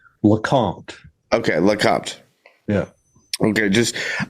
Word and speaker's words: LeCompte: far into this um correct me on the pronunciation of your last name. Lacant.